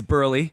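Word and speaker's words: Buehrle: So Mark Burley, is it Burley? It's Burley. These guys literally wrote a pronunciation.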